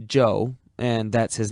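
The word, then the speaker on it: Chou: is amazingly cooperative joe spell it c-h-o-u if you want to be exotic it's still pronounced joe and that's his name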